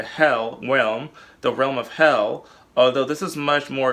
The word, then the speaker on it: Hel: of the underworld hell pronounced like the English word hell is the most General